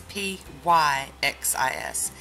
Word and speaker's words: Pyxis: but I looked on their site and it's P Y X is and this is pronounced Pyxis byxis yay so we have top